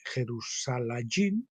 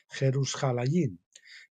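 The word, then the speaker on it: ירושלים: Saben que la ciudad de Jerusalén es un plural, se dice Jerusalayín o algo así, yo no lo pronuncio muy bien, Jerusalayín.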